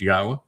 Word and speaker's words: Yahweh: And then, the series introduction to God, where I actually come up with proof that God's name is pronounced Yahweh, and have determined that Jesus never existed, that David is the actual Messiah, Son of God.